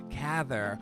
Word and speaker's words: Cather: my second grade teacher she said cather rhymes with rather and we were invited